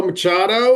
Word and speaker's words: Machado: Hi Tito Machado. It's is I pronounced your last name correctly.